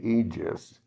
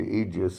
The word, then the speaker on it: Egis: But in any event, his manager, Aegis, I guess you would pronounce it, Egis, went over to Teofimo's corner and said, "Why do you hate the Loma?